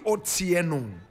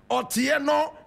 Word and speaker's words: Otieno: Her name, Wambui Otieno. Wambui Otieno. Wambui is spelled W-A-M-B-U-I.